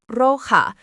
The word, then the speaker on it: roja: Rojo becomes roja, pronounced roja, la casa roja, the red house.